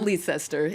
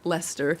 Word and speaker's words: Leicester: how to pronounce Lester it's not leester it's a Lester but this says that